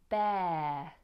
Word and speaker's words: bear: There's little consistency in pronunciation between fear and bear. Now hear that difference. Fear, bear. Fear, ear, like your ear. Bear, like chair, hair, wear. Like the air we breathe.